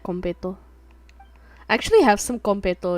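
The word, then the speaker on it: konpeitō: Okay, so competo. It's actually spelled like this. Compeito. So it is competo, and it's like little star candy.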